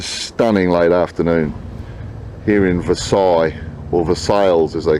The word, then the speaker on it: Versailles: 7 miles west of Versailles, as I would call it. And the locals spell it literally, pronounce it literally Versailles.